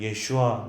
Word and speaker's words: 예슈아: 여러분이 기도할 때도 가급적이면 예슈아 나의 구세주, 예슈아 나의 기름 부은 메시아 라고 기도해 보십시오.